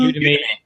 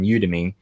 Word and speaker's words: Udemy: Udemy. Mm-hmm. Udemy. Like Academy.